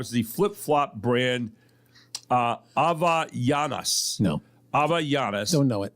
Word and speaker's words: Havaianas: Just missing the top 5 is the flip-flop brand Havaianas. No. Havaianas. Don't know it. The H is silence. It's Havaianas, if anyone cares.